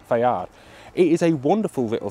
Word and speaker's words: FAIR: side made in Italy Fair stands for Fabrica Army isidoro Rini and is technically pronounced fad it is a wonderful